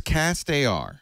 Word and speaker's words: castAR: Now, people who contribute to the Kickstarter project, will they get a pair of castAR glasses? Am I saying it right? Is it castAR or castAR? CastAR.